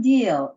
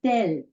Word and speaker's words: dil: Yes, Kathy, the first one, although it's spelled this way, it's not deal, it's del. Del Dil.